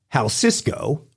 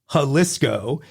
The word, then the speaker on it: Jalisco: save the day correcting me first with with how Cisco wrong he later amended that to to high cysco wrong and then and then he went for the grammatical hatrick telling me it was halisco and wrong for the third time the correct